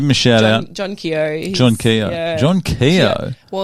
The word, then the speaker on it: Keogh: I thought there's a basketballer called Keogh.